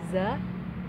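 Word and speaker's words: ز: Kalau za itu z dan a, za.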